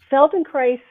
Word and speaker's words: Feldenkrais: was kind of part of that was this feldenkrais piece and neuroplasticity and i wondered if you might talk a little bit more about that part too sure um feldenkrais is an incredible modality it's feldenkrais and if